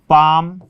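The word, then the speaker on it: palm: उसी प्रकार से इसमें था कि के से पहले एल है तो एल साइलेंट, एम से पहले एल है तो साइलेंट, एफ से पहले एल है तो एल साइलेंट। ये पाम, कम, हाफ, काफ।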